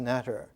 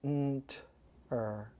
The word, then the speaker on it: Neter: NTR with no vowel, usually spelled out in classical Egyptology as Neter, pronounced netter. But in the sacred hieroglyphic language of the old Egyptian wisdom, you would just pronounce nt-er without making the t.